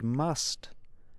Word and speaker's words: must: but until next time when English speakers say the word must they pronounce the sound at the end listen to Ana's healthy